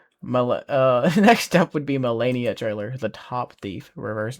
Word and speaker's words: Melania: Uh, so Melania was how you say it, not whatever I said before.